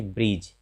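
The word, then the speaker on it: bridge: प्रायः डी के बाद जब भी जी आए तो डी का उच्चारण नहीं होता है। जैसे ब्रिज, यहाँ भी देखिए डी के बाद जी है, तो इसे पढ़ते ब्रिज।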